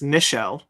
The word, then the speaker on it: Nichelle: First, it's Nichelle.